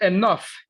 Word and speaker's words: enough: This way you pronounce it enough. Okay. Por lo general, la G y la H juntas suenan como F, el sonido de la F, ¿verdad?